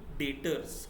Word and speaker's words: debtors: अभी जिससे मुझे पैसा आने वाला है उसको मैं अकाउंट्स के टर्म्स में बोलता हूँ डेटर्स। क्या बोलता हूँ, डेटर्स, DEBTORS, डेटर्स, B silent है यहाँ पे।